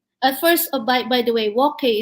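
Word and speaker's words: wok hei: At first, by the way, wok hay is WOK and then HEI, HEI. and sometimes it's pronounced wok chi or wok hay.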